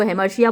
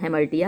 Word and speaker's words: hamartia: उसको हेमर्शिया बोलते हैं कुछ लोग, HAMARTIA, लेकिन उसका प्रोनाउंसिएशन हेमर्टिया है।